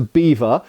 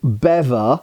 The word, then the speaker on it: bevor: Now, a lot of reenactors, as I said, call this a beaver. It should really be called a BEVOR, I think, by standard pronunciation. However, originally it was probably in England called a BAVOIR, and this became BEVOIR and then BEVOR. Not beaver. It's not a small furry animal.